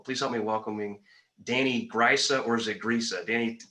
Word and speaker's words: Grisa: It's technically it's pronounced Grisa, I guess. My family always said just pronounce it Grisa, and I'm like, well, phonetically it makes no sense. Everyone always pronounces it Grisa, so we decided 2 weeks ago it's going to be Grisa from now on. So I don't have to